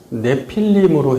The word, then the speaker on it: 네필림: 내피 그림은 원어로 내필림입니다. 원래 발음은 네필림으로 해야 더 정확하죠.